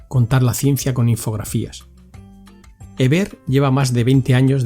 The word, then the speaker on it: Heber: raticos a la tercera he aprendido Cómo se pronuncia tu nombre Ever ha sido rido everlo cas eso es estoy